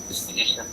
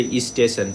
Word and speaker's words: station: to almost all right station it's station station if you are like if you cannot differentiate then you will say e station e station e School e School